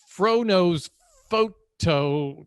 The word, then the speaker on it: Fro Knows Photo: froknows photo but you you can't really say it like that it's fro-nose photo i don't think i'm